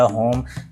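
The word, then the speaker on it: home: होम जैसे बोलते हैं, लेकिन जनाब होम नहीं, आप जैसे मैंने बोला होम, ये सिंपल बिल्कुल उर्दू प्रोनाउंसिएशन है, इंग्लिश प्रोनाउंसिएशन आप बोलेंगे, ज़रा गौर कीजिएगा, होम होम यानी होम होम, समझ रहे हैं ना, ये दो आवाज़ें हैं, ये ओ जो है यहाँ एक आवाज़ नहीं है, इसे ग्लाइडिंग साउंड्स कहते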